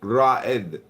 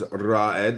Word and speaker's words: Rahed: Do you know how to read first lady? It is pronounced Rahed. I know, but I feel like you are somebody else as well. No, my name is Rahed.